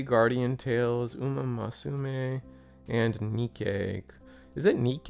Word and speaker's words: Nikke: No, I I get what you're saying, but it's they pronounce it Nikki, okay? Because you have to think Japanese.